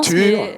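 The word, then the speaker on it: Tor: Tur, puisque le père est norvégien. Ouais. Je pense que c'est une version de Thor, comme le dieu Thor.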